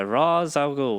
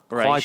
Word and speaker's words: Ra's al Ghul: It's definitely Henry Deckard, and he takes him to the League of Shadows by Ra's al Ghul, not Raish.